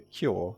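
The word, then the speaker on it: 京: Well, actually, there was an intermediate step, where the long "ō" from "ou" and this one from "au" were pronounced slightly differently before merging, the latter being more open, like this: /toːkjɔː/.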